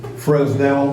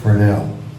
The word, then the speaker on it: Fresnel: name of their nana you need to wait fresnell well it's pronounced fernel French uh Augustine fernell is the one that developed the lens the